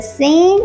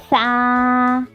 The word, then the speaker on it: ث: Today's new letter is sa. Everyone say it with me. Sa sa. Its sound is s. And you will pronounce it like sa. Okay. Put your tongue between your teeth like this.